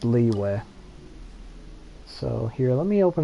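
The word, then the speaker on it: Liyue: game on chinese audio i'm pretty sure it's pronounced leeway so here let me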